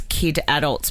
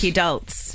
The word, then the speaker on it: kidults: want to talk about I was pronouncing it as kid adults but they're calling it kid adult kid kid adults kidults kults kidults KS KS